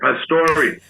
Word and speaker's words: Pastore: vow at the end Pastor like a Sante so daddy said it's Pastor he dropped the E he didn't take the E away but he never pronounced it again and they didn't teach